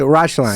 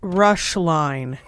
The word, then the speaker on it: Roeschlein: Roeschlein. So it's pronounced Roeschlein. Roeschlein. So like I'm Sounds not in a rush and walk a straight line, but it looks like.